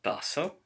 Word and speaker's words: taza: Ik heb una taza. Notice that the letter Z is S. Sounds like S.